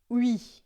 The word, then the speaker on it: oui: Você vai fazer uma boca de U e vai falar I. E daí vai ficar oui, d'accord?